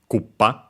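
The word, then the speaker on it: クッパ: Yeah, accented, by the way, the term, the dish, on the first syllable, Koopa.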